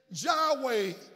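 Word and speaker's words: Yahweh: w y la h dos vocales fueron insertadas adheridas para facilitar la pronunciación en español y también en inglés ya way le dicen que significa yo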